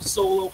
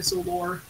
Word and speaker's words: Solo: So I'm like, please just call me Solo, please. Please don't call me Solor. Solor. Yeah. Because if you say it fast enough, then in Danish, then essentially in Danish you can pronounce it as sun crap. Sun crap? Like sun shit or something. And I don't want that. I'm just Solo.